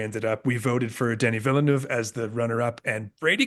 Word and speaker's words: Denis Villeneuve: We've got Brady Corbett for The Brutalist, Dennis Villeneuve. I can never The say it right. Denis Villeneuve.